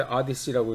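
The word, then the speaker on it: Odyssey: 이 사람이 이제 그 일리아드, 그다음에 오디세이의 그런 작가인데, 이 그 호모의 경우에서 트로이 전쟁 서사시인 그 오디세이, 이거 영어로 이제 아디시라고 이제 발음을 하죠.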